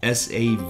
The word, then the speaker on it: Savagnin: It's an offspring of the white wine grape, which is spelled S-A-V-A-G-N-I-N, Savagnin, from the Jura region, which is spelled